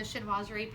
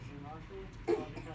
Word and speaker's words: chinoiserie: And again, with a chinoiserie pattern on it, actually.